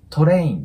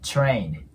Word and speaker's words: train: の Train これでスペルが TR になるものは基本的に中の口から発音すると綺麗に聞こえますなのでトレインではなく Train TR ンって感じですねもう